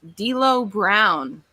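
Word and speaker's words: D'Lo Brown: time but it's uh i think this person's name is pronounced d lo brown oh you better recognize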